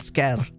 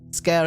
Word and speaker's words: Skyr: name again it's tentas scare it's tentacles and scare scare is an Icelandic word it's also like an